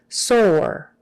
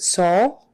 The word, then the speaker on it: sore: effects from that medicine soar soar make sure you get the good o er you don't want to pronounce it soul or soul you've got to get the good er on the end sore spasm spasm that